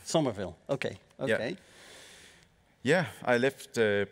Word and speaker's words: Somerville: um and You released Su how do I pronounce this Somerville Somerville okay okay yeah I left played it and